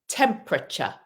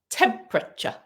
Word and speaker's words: temperature: Temperature. So that E disappears. Temperature. Temperature. I've got a temperature. Temperature. And it sounds like a ch at the end.